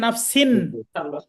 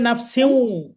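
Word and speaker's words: نَفْسٍ: লেখা আছে নাফসিন, কিন্তু পড়তে হবে নাফসিউ।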